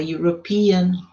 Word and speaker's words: European: Quando eles soam como you, a European, a university, a unit. Som de you. Não é som de vogal. Som de consoante.